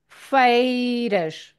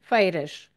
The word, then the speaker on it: feiras: The pronunciation is the sound of A. So, feiras, feiras, feiras.